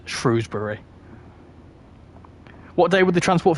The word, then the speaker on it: Shrewsbury: it's it's vice versa but I say Shrewsbury which I think is right really because well it's a shrew like it's named after the animal shrew so it's Shrewsbury what day would the